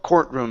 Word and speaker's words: courtroom: of court jobs uhhuh so here Court courtroom instead of C okay core courtroom Court cor uhuh one more time courtroom court room there you go and